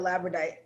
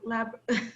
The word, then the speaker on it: labradorite: I think it's funny that you had the labradorite, I can't say that word, labradorite. Labradorite. Like missing a syllable.